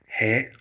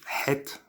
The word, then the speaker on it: ה: So you have he, which is like an English H.